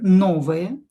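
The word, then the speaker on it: новая: Same rule here, o not stressed will be pronounced as a. Same here, novaya.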